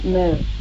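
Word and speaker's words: mille: So E is silent.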